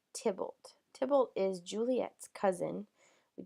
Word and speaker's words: Tybalt: So you pronounce that Tybalt.